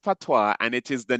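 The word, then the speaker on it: patois: It is pronounced PWA and it is the name of the Jamaican dialect. Okay. So when somebody says they speak PWA and the S is silent is really pronounced PWA, right?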